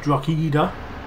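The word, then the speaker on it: Drogheda: he will travel south that's drock eater that's how you say it where he will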